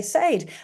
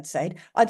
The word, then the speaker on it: said: spelling are different right it should say Sade and in some accents of English it still is my grandparents said Sade there's lots of people in Scotland that said s I'd say there's a bunch of people in America that say Sid the speaking and the